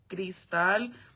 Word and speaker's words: Crystal: My name isn't actually uh it's spelled like crystal, like American name crystal, but it's actually gristal because if you didn't